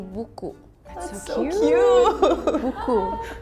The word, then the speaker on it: buku: In Indonesian we say buku. That's so cute. Buku. It's like B-U-K-U. It's how it's like written. Buku. And you just read as it is, like buku.